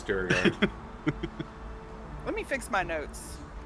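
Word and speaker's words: Duergar: differently all the time, so I it's all pronounce fantasy. everything incorrectly. No, you're right. It's Durgar.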